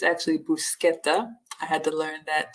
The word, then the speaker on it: bruschetta: we use the CH but um it's actually bruschetta I had to learn that too um spinach